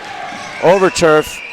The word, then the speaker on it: Overturf: Overturf is how our great PA announcer, Gus Porman, pronounced it.